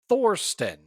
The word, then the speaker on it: Thorsten: Thorston, which is spelled Thirstston.